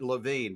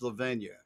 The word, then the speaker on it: Lavinia: It would work if you pronounced it Levine, but it's Lavinia.